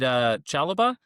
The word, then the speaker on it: Chalobah: So hmm is it Chalobah, right? Trevo That's how Chalobah? I'd pronounce it. Yep, Chalaba.